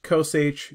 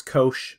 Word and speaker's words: cosh: functions and sine h cos h sometimes kosh people pronounce it if i wanted to